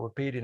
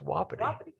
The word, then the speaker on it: Wapiti: between michael and i he keeps calling it repeating i said no it's pronounced wapiti i lived in alabama